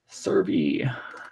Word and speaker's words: Servie: So Servy.